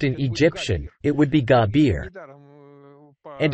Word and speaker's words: Jabir: Nowadays, the Syrian pronunciation Jabir and not the Egyptian Gabir is in use. Egyptians don't use the J sound.